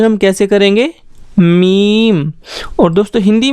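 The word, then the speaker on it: میم: इसका प्रोनाउंसिएशन हम कैसे करेंगे, मीम।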